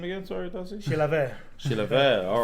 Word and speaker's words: Chilavert: be Jose Luis Chilavert.